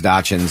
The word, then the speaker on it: dachshund: Chad sent us pictures of his Dachshunds that they're sitting. Dachshunds? Dachshunds. Wait a minute. No, go ahead. How do you say it? Dachshund.